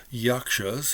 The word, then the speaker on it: Yaksas: is a particular book and it's called uh yakshas it's by Anand kumara Swami I think it